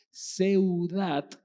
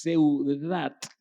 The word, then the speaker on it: Seudat: puse escrito, pero es Seudat. Lo trato de pronunciar por si usted quiere escribirlo en español, así que con ese nada más, Seudat, con una DT, lo exagero para que escriba Seudat, H-A, Adón, Adón.